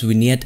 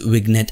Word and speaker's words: vignette: still remember before 2015 I used to pronounce winette as wiget and and I know